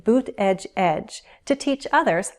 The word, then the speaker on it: Buttigieg: There are 3 syllables, Buttigieg, stress on the first, which means the other 2 syllables have unstressed vowels, Buttigieg. The first syllable has a long oo. The double T becomes a flap T, so it will sound more like a D sound, Buttigieg.